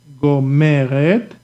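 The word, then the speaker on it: גומרת: Gomer, Gomer, Gomeret. You see, I force, I give the intonation, the force here at the first Gomeret.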